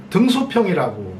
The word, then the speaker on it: 등소평: 등소평이라고 우리는 한문으로 쓰고 읽잖아요. 근데 중국에서는 덩샤오핑이라고 읽습니다. 이게 전혀 발음이 다르죠.